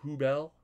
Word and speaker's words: Hubbell: here um one second it's pronounced who bell i like it that'll